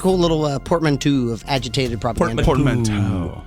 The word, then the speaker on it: portmanteau: Portmanteau. Portmanteau is how you pronounce it.